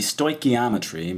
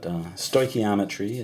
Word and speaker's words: stoichiometry: It's stoichio for element, metry, meter, measuring, and it should be stoichiometry, but I'll usually say stoichiometry just because I'm a little lazy on that. But stoichiometry is how it's pronounced.